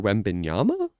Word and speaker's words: Wembanyama: Victor Wembanyama? I think I said it right the second time. Wembanyama.